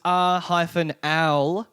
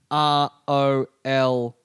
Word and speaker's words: Rowling: Someone wrote, I always thought it was R-owl-ing, Yeah. but it's R-O-L, like, Okay.